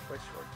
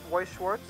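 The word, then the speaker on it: Weiß Schwarz: Weiss Schwarz. Yes, the B, the beta symbol is pronounced as an S in this case, I guess. So, I said I had to get into Weiss Schwarz, and look at this, Weiss Schwarz.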